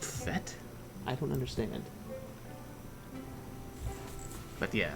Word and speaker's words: FATE: just kept pronouncing as fate and uh according to the internets it's like a French word or something and fate is actually